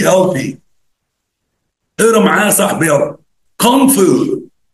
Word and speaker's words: Kung Fu: Kung Fu. Kung Fu. ما تنطقش الجي بعد الان.